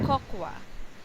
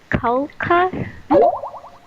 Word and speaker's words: cocoa: So cocoa, here we go. coca. Cocoa. So Is it coca? no, not Coca. coca. Cocoa.